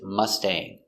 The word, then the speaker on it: Mustang: red mustang so remember with the word mustang we have a-n-g a-n-g always makes the long a sound like angry or sane pronunciation let's take a